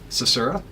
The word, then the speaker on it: Susurra: uh a project um which is called Ceura.